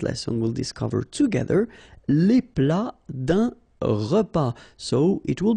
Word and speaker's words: plat: Then un plat principal. Final T here not pronounced.